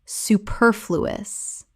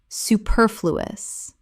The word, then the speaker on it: superfluous: prerogative prerogative Word 257 superfluous Common mispronunciation superfluous. Correct pronunciation, superfluous. Four syllables with the stress on the second.